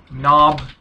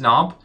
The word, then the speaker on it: knob: words like no night knob knowledge what else me etc all the words with ki and we don't pronounce K so don't say no no it's not it's not what is knob so this handle will